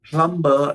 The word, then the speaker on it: plumber: Okay, as English is a language you speak on your channel, you don't pronounce plumber as plumber. The B is silent.